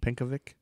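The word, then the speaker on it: Pencovic: Frank Herman pink choic probably panovic is how you say it probably pavic pavic p n c o v i c pavic like Yankovic yeah he had claimed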